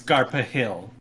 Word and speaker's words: Garfield: I've been digging Garfield's games. Yeah, Is it pronounced Garfield or Garpil? I've heard it pronounced both ways. I have no Yeah, I idea. have to. It's Garpa Hill.